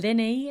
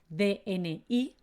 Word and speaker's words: DNI: eso sí en el dni es decir en la tarjeta esta que tenemos de identificación en españa se llama dn-iii aunque la verdad los españoles lo pronunciamos como dni dni dni inténtalo tu